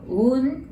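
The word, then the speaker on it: ううん: So うん, that's no. It prolongs う.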